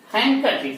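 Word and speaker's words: handkerchief: हाँ सही सुना, हैंकरचीफ में डी साइलेंट होता है। हैंकरचीफ, नॉट हैंडकर, हैंकरचीफ।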